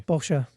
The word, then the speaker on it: Porsche: a p p r Porsche porsa yeah it's porsa porsa I say Porsche still I say Porsche I prefer to Pora and it's my choice pora what what is